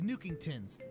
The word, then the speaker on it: Nookington's: There's also a new beauty salon added to Tom Nook's store after he upgrades his store to Nookington's. And yes, that is the correct way to pronounce it.